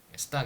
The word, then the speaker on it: 스톡: 스탁 이렇게 써요. 저는 스톡이라고 쓰고 스탁이라고 읽습니다.